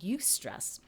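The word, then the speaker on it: eustress: is positively stressful that's a you stress it's spelled EU stress and then something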